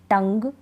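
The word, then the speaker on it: tongue: नियम क्या है कि जी यू का उच्चारण ग होता है चलिए स्पेलिंग देख लेते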